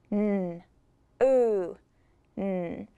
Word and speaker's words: noon: I will add it to the anchor chart on the OO side, like bloom and food.